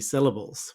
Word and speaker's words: syllable: of the word syllable you will see two schwas and the reason they are there is because we often use schwas to pronounce unstressed syllables or weak syllables so our first syllable is stress and is marked in red this is s and then the second and third syllable with schwas are unstressed it's LA s syllable have you ever notice